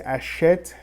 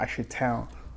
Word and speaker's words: achètent: Achète with ENT, but we say achète. You notice here that we don't pronounce the ENT, right? It's not achetin, it's achète.